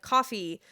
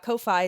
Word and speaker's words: Ko-fi: Thank you again to Gnome Ann or Ann the Gnome on both TikTok and Coffee. I've recently learned it's pronounced coffee and not Ko-Fi, so I hate that.